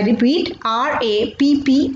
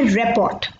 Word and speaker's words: rapport: I repeat, rapport. लोग usually इसे pronounce करते हैं रेपोर्ट. I repeat, रेपोर्ट. बट इसकी correct pronunciation is रेपो. I repeat, it इज रेपो.